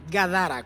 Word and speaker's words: Gadara: se llama gadara sí lo pronunciamos mal dijimos gadara no gadara con d donde era el muchacho